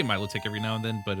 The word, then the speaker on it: Milotic: I say Milotic as in saying Milo. Yeah. I don't know. I don't know. Like, I don't know. I've been like going more towards Melodic or something. I say Milotic every now and then,